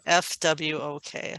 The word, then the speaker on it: FWOK: FWOK. FWOK. I kind of hear it like a frog croaking.